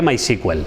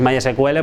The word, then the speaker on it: MySQL: Bueno, como decía, MySQL o MySQL, en inglés esto se lee MySQL, ¿vale? Si tú dices MySQL, pues quedas como un poco cutre.